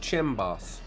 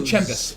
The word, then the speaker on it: Chem Boss: I believe it's pronounced Chimbos. Oh, it's actually Chembus.